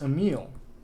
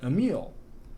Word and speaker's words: Emile: How do you pronounce Emile? Depends where you are from. People of Lemaine call him Emile, while Orminians call him Emil.